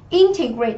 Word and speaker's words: integrate: Integrate thì trọng âm của chúng ta sẽ rơi âm tiết thứ nhất và là động từ.